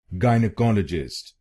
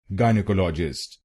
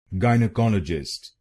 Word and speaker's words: gynecologist: Then it becomes gynecologist gynecologist. Don't call it a just. Don't call it a just. Gynecologist gynecologist. And in this you have to put the stress on the third syllable.